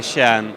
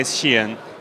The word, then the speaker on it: Skien: Well, I'd say Shan. Skiën. But most Norwegians will say Skien.